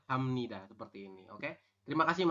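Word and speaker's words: 합니다: ya tulisannya seperti ini ya hapnida tulisannya Anda membacanya adalah Hamnida seperti ini Oke terima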